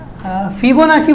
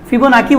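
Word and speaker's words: Fibonacci: फिबोनाची बोलते हैं और बहुत लोग उसको फिबोनाची बोलते हैं, इंडिया में उसको नाची बोलते हैं और वहाँ पे नाकी बोलते हैं।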